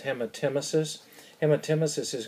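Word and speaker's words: hematemesis: growing up if there's blood in it is pronounced hemet emesis and when Tim Isis is going to be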